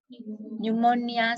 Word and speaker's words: pneumonia: You can be given the letter P and you are told to write a word where P is silent. An example of such a word is what? Yes? Pneumonia, psychology.